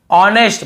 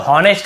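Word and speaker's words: honest: ऑनेस्ट, बहुत से लोग हॉनेस्ट ऐसे बोल देते हैं, आई जे का हो गया, साइलेंट नहीं होता है, ध्यान में रखेंगे, लिख भी लेंगे।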